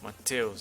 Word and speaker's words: Mateus: If you wanna know a common Brazilian name, it's Matthews or Mateus as we pronounce.